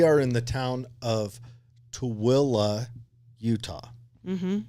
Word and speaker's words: Tooele: Now, we are in the town of Tooele, Utah. Mm-hmm. That is spelled T-O-O, Illy. It is not spelled anything like it sounds. No. And it does not sound anything like it's spelled.